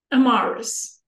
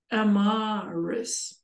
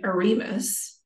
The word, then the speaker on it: Emirus: Emirus. Oh, it's almost like an A then rather than an I. Well, it's both. Emirus.